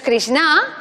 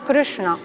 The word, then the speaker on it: Krishna: Y la A es breve, así que no es Krishna, sino Krishna.